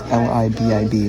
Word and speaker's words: Libib: It's Libib, so like library.